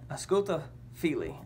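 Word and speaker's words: Ausculta fili: it's a sculpta fili a sculpto phili is how it's pronounced and what that said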